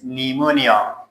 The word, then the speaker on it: pneumonia: And the last word is pneumonia. It's a kind of a medical term. اصطلاح طبی هست. You don't say P pneumonia. It is wrong because P is before N. P before N, P is silent.